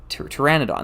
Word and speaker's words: Pteranodon: sorry Maniac for bricks uh was saying uh Pteranodon that's how you pronounce that that keeps you keep stuttering on that Pteranodon price is based on Bricklink six months ago